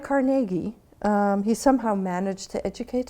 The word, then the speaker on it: Carnegie: know anything about the man our new Andrew Carnegie that officially is the way one should pronounce this name you came from very humble